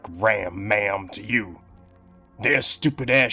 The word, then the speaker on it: Ram Ma'am: Ram-maam, on the other hand, laugh all you want, but it sounds very much like ram-man, and even rhymes with both syllables ending in am.